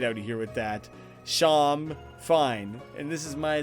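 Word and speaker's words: Seam: The names seem pronounced Sham. Oh, okay. It's like how Sean has a trillion different... Get out of here with that. Sham, fine.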